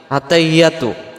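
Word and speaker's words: التَّحِيَّاتُ: আমরাদের উচ্চারণে আত্তাহিয়াতু আত্তাহিয়াতু আত্তাহিয়াতু হা জের হি ইয়ার পরে তাসজিদ আসছে এই তাসজিদটা সহ আদায় করার জন্য বলতে হবে আত্তাহি এমন আওয়াজ হবে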